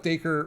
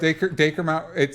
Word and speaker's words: Dacre: I think it's Dacre. It's Acre with a D on it, so that's how I'm pronouncing it.